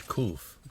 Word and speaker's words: Qof: think of number 19 the letter is coof cool yeah it they spell it in the way it was spelled in one of them is k-o-o-o-f yeah just like roof you know roof cool